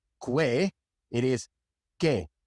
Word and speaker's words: que: It is K. The U is silent.